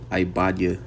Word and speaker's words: Obadiah: with um we'll get Obadiah ibadia that's how you say it in Hebrew which ibaya means um